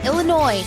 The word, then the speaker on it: Illinois: our from Chicago Illinois Illinois it's the S is silent there's no noise in Illinois where all the car